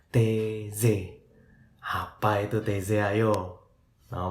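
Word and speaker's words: Taizé: Tulisannya sih T-A-I-Z-E, tapi bacanya TZ.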